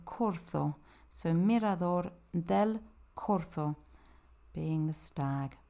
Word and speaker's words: Corzo: The Corzo is this stag, and there you see that Z that I was talking about, but it's pronounced like a TH, a soft th, not a V, so Corzo.